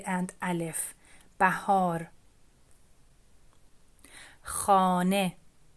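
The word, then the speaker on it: خانه: Letter H sometimes is pronounced as H, like here in Kuh, and sometimes it's pronounced as E, like Khane.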